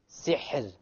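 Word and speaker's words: سحر: So, sihr. Sihr. Okay, so the ra is silent. Before it is silent, before it is a kasra, therefore the ra will be light.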